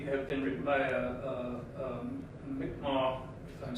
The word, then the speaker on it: Mi'kmaq: been written by a Mi'kmaq, if I'm saying that right. It looks like Micmac, but it's pronounced Mi'kmaq.